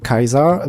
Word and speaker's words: Caesar: propre vision pour l'humanité C'est pourquoi César doit être prononcé comme en Latin Caesar par les membres de la Légion César est dit être